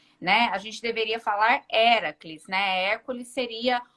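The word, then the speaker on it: Héracles: né mas o nome a pronúncia correta do nome do nome dele é do Herói grego seria era aqui né E era que não é o Hércules né era Filho de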